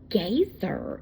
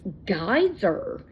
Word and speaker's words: geyser: head off she said it's not gazer it's geyser should I go over